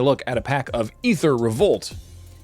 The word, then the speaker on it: Aether: at a pack of ether revolt it's spelled aether but it's pronounced ether we were told this